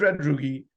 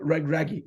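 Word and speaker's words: Regragui: that sort of goes to script but wallet red ruby takes wallet raggy sorry let me get that pronunciation right takes with Casablanca they win the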